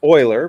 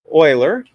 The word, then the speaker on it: Euler: So let's go to Project Euler, or it's actually pronounced Euler. Project Euler, that's how you pronounce his name.